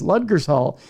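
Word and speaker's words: Ludgershall: or no ludgers Hall that's what it is ludgers Hall and I'll get I'm sure emails on my pronunciation in Wiltshire England while there he ran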